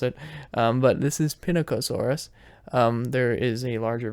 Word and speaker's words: Pinacosaurus: or eucalyptus because I didn't know how to pronounce it um but this is pinnacosaurus um there is a larger version of this